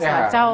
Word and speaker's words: Selacau: Selacau, karena ada selako, ada selacau, ada selacau. Di Tatar Sunda, bahasa Sunda itu bacanya selacau.